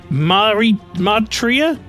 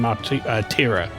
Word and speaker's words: Martira: I think the Tira is pronounced like tiramisu. Did I not do that?